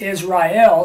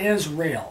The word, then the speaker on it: Israel: because that distinguishes help so it's Israel three syllables not Israel so it hasn't to